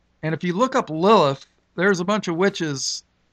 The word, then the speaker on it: Lilith: Now, in verse 14, when it mentions the screech owl, Hebrew word, and basically in English you pronounce it Lilith, L-I-L-I-T-H.